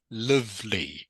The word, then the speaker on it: lively: good and just remember this word here is Lively not lively it's pronounced Lively Lively the long I sound okay can't see you